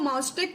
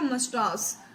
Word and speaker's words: mustache: A striking figure, white haired, ठीक है, white haired with an impressive mustache, इसको माउस्टेक नहीं बोलेंगे, इसको सही प्रोनाउंसिएशन इसका होगा मस्टास, ठीक है।